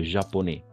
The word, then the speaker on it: japonais: AI, toujours E, des japonais. Le S est muet.